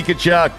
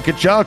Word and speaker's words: Tkachuk: The C in Tkachuk stands for cutting it up. Is there a C in Tkachuk? I don't even know. I have no idea. It's a silent T in there, right?